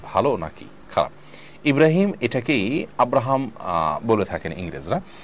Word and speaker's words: ইব্রাহিম: ইব্রাহিম এটাকেই আব্রাহাম বলে থাকেন ইংরেজরা। অতএব আপনি সে অর্থে যদি ইব্রাহিম রাখেন এবং আপনার ইব্রাহিমই আপনার নিয়ত থাকে, এটার কোনো সমাজে আপনি আসেন